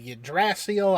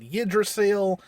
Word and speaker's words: Yggdrasil: i've heard it called you drastial i've heard it called yidrasil there's so many different